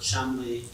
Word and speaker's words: Cholmondeley: It's pronounced Chumley.